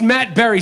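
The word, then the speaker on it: Matt Barrie: reporter on ESPN, and his name is Matt Barry. But it's pronounced Matt Berry.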